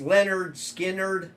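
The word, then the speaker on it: Lynyrd Skynyrd: It's pronounced Leonard Skinnerd.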